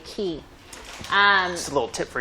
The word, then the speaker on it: Cay: Now, it looks like Castaway Cay, but in the Bahamas, they say Cay, C-A-Y, Castaway Cay.